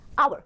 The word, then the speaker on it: hour: R is a wrong pronunciation. The correct pronunciation is hour.